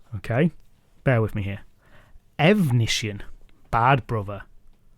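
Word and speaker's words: Efnisien: Evnisien, bad brother. One syllable difference at the start of the name.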